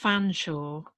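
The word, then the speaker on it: Featherstonehaugh: there's one famously that's like um uh it's pronounced fanshawe but it's but the but the actual um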